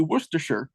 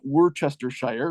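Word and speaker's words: Worcestershire: do how do you how do you pronounce the the stuff that you put on staks Worster yes exactly Worster not Worchester Shire right so it's it's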